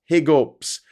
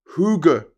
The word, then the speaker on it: hygge: mates do you get Hig UPS well it's pronounced Huger Huger it's like how people